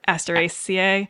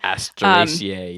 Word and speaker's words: Asteraceae: It's actually part of the daisy family, which I'm going to butcher the Latin name, Asteraceae. Asteraceae, yeah, or Asteraceae.